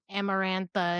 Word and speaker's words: Amarantha: her, but I also understand because I can't pronounce her name correctly. And Amarantha is Yes, thank you.